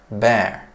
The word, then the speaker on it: bear: Hayvan olanı bear.